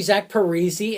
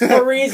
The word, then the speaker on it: Zach Parise: just want to say my name got Canadianized, or whatever he said. He, like, slandered Canada. He's like, it's actually Zach Parise, and all the Canadians are like, fuck you, it's Parise.